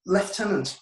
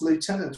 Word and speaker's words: lieutenant: it was lieutenant, but to our American friends, that's lieutenant. Well, the teacher pronounced it lieutenant. So I spelled it as lieutenant.